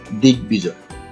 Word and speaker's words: দিগ্বিজয়: এর সঠিক উচ্চারণ হচ্ছে দিগ্বিজয়। এখানে আমরা জানি যে বফলা শব্দের মাঝে বা শেষে থাকলে উচ্চারিত হয় না, কিন্তু এখানে বফলা উচ্চারিত হয়েছে।